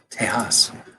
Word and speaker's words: Tejas: July 1 2017 and then Texas ours is pronounced Tejas because of their independence yesterday or this earlier